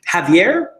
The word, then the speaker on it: Javier: Our next one is from, and excuse me if I pronounce this improperly, but it's Javier, I believe. The J is an H, I think.